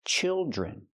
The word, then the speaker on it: children: Use the short sound like this is children. And the dr makes the J sound like jump and juice. Plus the R.